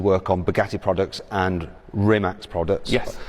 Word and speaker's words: Rimac: on Bugatti products and rimax products I'm saying it kind of half correctly it's it's rimat isn't it rat yeah it's a creation way of pronouncing rimat okay so tell me